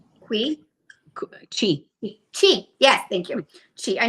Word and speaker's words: qi: think it's what's qi ki qui chi Chi.